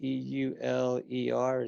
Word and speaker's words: Euler: and that equation is often calls Euler's identity EUL er spelled euler but pronounced euler identity and on on everybody's list